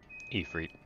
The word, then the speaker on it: Ifrit: Ifrit. So you're pretty close. You basically just pronounce the I's as E.